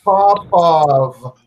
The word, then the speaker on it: Popov: It's pronounced Popov.